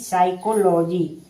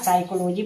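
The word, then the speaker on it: psychology: पी एस वाई सी एस ओ एल ओ जी वाई यानी साइकोलॉजी। यहां साइकोलॉजी पढ़ेंगे यानी पी क्या है? साइलेंट है।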